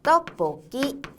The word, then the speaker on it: 떡볶이: 떡볶이. 자, 이거 발음이 어떻게 되냐면 떡 뒤에가 뽀. 그다음 쌍기억이 뒤로 연음돼서 끼. 이렇게 됩니다.